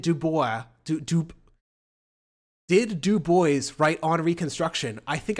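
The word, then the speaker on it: Du Bois: a WB DUIs sorry I I always pronounce it the French way first and then I realized I was fucking wrong um look I don't know how else to say this but we do boys yes it sounds like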